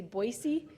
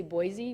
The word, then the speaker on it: Boise: Other examples would be like Idaho, Boise, Idaho. People in Idaho say Boise. I say Boise.